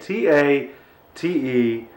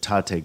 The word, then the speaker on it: Tate: the Tate demo now that is Tate t a te not pronounced Tate but Tate so let's go through